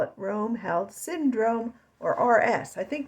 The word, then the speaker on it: Roemheld: the show today we're going to talk about Rome held syndrome if you don't know how to spell it or you never heard of that like